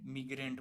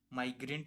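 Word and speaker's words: migrant: मिग्रेंट बोलेंगे। माइग्रेंट इसका appropriate pronunciation होगा।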